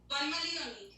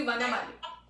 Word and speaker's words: Vanamali: It's actually Vanamali. Vanamali. Ma with A ka matra also.